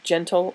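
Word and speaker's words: Jentle: Sailor, Gentle ink. It's spelled with a J.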